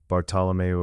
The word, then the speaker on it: Bartolomeu: Her neighbor, an old man named Bartolomeu, Bartolomeu, a Portuguese name, sees her and shakes his head slowly.